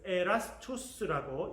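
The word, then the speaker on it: Erastus: 그래서 ERASTVS 그래서 에라스투스라고 읽을 수 있는 게 있습니다.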